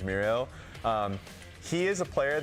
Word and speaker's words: Miro: is really important now Miro for a while we've called him miru so that's now like we've gotten word that that's the proper way of pronouncing his name is muo um he is a